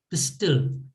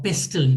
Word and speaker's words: pestle: So she's holding this pistol or pestle, if you want to pronounce it correctly, as a weapon.